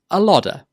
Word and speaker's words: a lot of: It's difficult to say a lot of as 3 separate words when you're speaking quickly, so we join them together and it becomes a lodder.